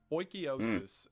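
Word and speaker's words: oikeiosis: and is not allowed oikiosis and according to the internet that is how it's pronounced I look tall enough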